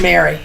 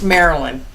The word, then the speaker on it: Marilyn: Just to clarify, I believe in the introduction I said her name wrong. It was Mary. It's Marilyn.